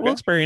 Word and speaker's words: Wilkes-Barre: Why were you in Wilkes-Barre and didn't come by and say hi?